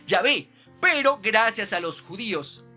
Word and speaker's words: Yahvé: No quiere decir que esa definitivamente era la pronunciación, no, la pronunciación más fidedigna es Yahvé, pero gracias a los